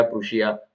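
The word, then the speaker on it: Prussia: तो रशिया, प्रूशिया और Austria जो है, इसको प्रशा भी कहीं पे पढ़ा जाता है। तो रशिया, प्रूशिया, प्रशिया, प्रशा, जैसा भी आप इसको पढ़ते हैं। तो प्रूशिया, प्रशा, ये इसका प्रोनाउंसिएशन बन सकता है।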